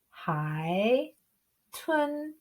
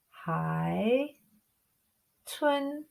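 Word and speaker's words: 海豚: we put that together we've got third tone plus second tone and we pronounce dolphin hi twin hi twin go ahead and keep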